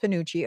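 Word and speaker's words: penuche: So, this says commonly pronounced ponucci.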